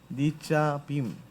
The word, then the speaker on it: נצבים: 니짜빔.